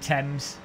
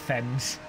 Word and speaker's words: Thames: You pronounce it Thames, not Thames.